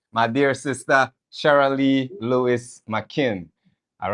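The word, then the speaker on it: Makin: Spell the full thing. Is it McKin? You said M A K I M. M A K I N.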